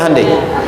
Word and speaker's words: Hyundai: Hyundai kan dibacanya Hyundai, ya kan?